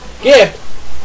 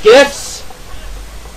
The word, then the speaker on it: GIF: I think it's GIF or JIF. I think it's supposed to be JIF, but mostly everyone says GIF.